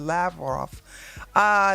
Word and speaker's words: Lavrov: la roth said i didn't know how to pronounce his last name it's not that hard lavrov there is a special channel that has been